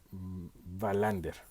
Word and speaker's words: Wallander: de la policía kurt wallander digamos que la pronunciación sería verlander es interesante esta serie